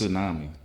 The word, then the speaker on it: tsunami: the silver tsami was tsunami yeah tsami yeah yeah you don't pronounce the T the silver tsami or